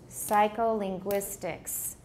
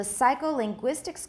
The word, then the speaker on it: psycholinguistics: Psycholinguistics. Which one sounds like it has more stress? The first or the fourth syllable? The fourth, right?